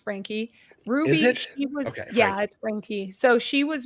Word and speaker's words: Franke: the facts so Ms Frankie and it is pronounced Frankie Ruby yeah so she was married to I